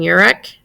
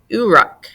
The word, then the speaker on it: Uruk: and densely packed houses so they actually pronounce what I have been pronouncing Uric they say urak so ooh and then